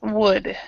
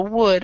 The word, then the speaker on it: would: L is silent so wood I I'm not even sure needs to even have two to use wood wood okay W um so just the the main thing is the L is silent there okay and um jenu